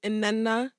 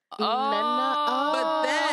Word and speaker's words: Nnenna: So every time I pronounce it, I get yelled at by other Africans. But it's Nnenna. Nnenna.